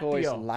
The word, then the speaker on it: turquoise: Don't pronounce a P. It's just turquoise.